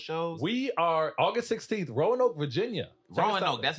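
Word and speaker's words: Roanoke: couple of those shows we are August 16th Rowan Oak Virginia Rowan Oak that's how you say it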